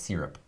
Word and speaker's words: SYRP: I think you say it's Syrup.